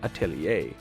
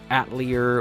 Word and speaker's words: atelier: like a workshop or a studio thus the pronunciation atelier even though people call it atlear or atelier i'm not saying say whatever you